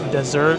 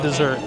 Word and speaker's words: dessert: It took me like 9 times to properly pronounce desert. And see, I'm doing it again. Desert instead of dessert.